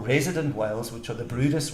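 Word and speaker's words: Bryde's: No, they got these traps, and of course, all our beautiful resident whales, which are the Brutus whales, it's spelled brides. Brutus whales.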